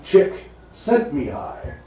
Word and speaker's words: Csikszentmihalyi: But it's Mihaly, so Mihaly, Chick sent Mihaly.